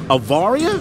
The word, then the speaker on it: Avaria: So tell us about, how do you pronounce it? Avaria?